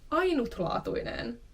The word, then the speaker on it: ainutlaatuinen: Ainutlaatuinen. Ainutlaatuinen. Again, here's an I, which is sometimes dropped in speaking.